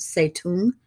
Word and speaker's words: Zedong: yes I know it says Zedong but it's pronounced say to him and he's going to defeat that the nationalist